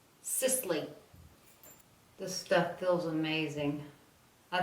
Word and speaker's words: Sisley: Every time I edit, I hear myself say Sisley, and I don't think it has that many syllables. Sisley.